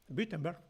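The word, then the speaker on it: Wittenberg: la Universidad de witenberg que lo pronuncia en alemán correctísimo witenberg y allí daba clases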